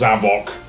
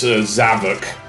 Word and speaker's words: Zavok: But anyway, that's the Zavok boss fight. And yes, it is pronounced Zavok. Seriously. Sonic even says so earlier on. It's not Zavok.